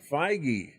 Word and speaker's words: Feige: How do you pronounce his name? I was looking up J.D. Dillard. Kevin Feige. Feige.